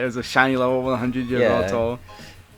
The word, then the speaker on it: Yveltal: And I have like all those mystery gifts, and I think it was a shiny Vettel, right? Yeah, it was a shiny level 100 Yveltal.